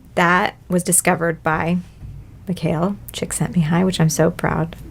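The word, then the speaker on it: Csikszentmihalyi: of activity and that was discovered by michael chick sent me high which i'm so proud of being able to pronounce his name impressed the second time is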